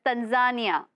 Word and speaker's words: Tanzania: Your uncle from 'Tanzia'? You can't even pronounce it, Mr Tiwari. It's Tanzania. I see.